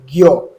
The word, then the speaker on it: ज्ञ: लेकिन इसका उच्चारण कैसे होता है? उच्चारण ज्ञ यानी ग से हो रहा है। ध्यान रखना है। तो ज्ञ का उच्चारण ग से होता है।